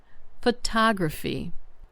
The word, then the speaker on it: photography: Photography. The stress is on the second syllable.